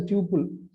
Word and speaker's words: tuple: us create a complex temple tuple it is pronounced as a tuple okay not a double tuple a string and